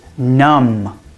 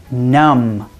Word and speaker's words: numb: in the list of words with a silent B is numb numb when I go to